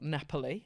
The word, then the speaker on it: Napoli: recently went to uh Naples or Napoli as as the locals say you know there's always